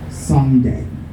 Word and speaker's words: Sunday: Okay, so sun has the stress, and then the distress syllable is day. Another thing about that word is the U. When we pronounce it, not everyone, but most people pronounce that word with the U taking the sound of O, saying so, instead of the U taking sun, Sunday.